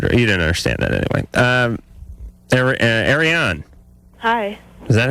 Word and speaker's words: Ariane: Ariane. Hi. Is that how you say it? Ariane.